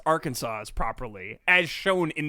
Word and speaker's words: Arkansas: sp i can't speak i can't say arkansas wow every time i say it i say it different our kansas arkansas arkansas i think it's arkansas yeah here's the thing that's not how letters work it's art it's it's our kansas it's our kansas but